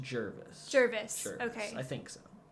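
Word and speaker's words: Gervase: BB and Jarvis? Is that his name? I think it's pronounced Jervis.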